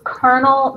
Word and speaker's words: Colonel: It's Colonel McCormick. That's a weird way to spell Colonel, I know, but that's how we spell it.